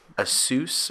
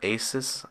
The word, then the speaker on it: ASUS: I had an Asus or Asus, however you want to pronounce it, Zen watch for a while.